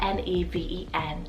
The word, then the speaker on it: Neven: for the list is the name nevin spelled n-e-v-e-n neven and this one directly means ethereal then